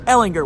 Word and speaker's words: Ehlinger: Joe was not gonna say I'm hard G Ehlinger when I asked about hard she asked about